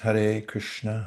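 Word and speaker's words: Hare Krishna: And this is pronounced har Krishna.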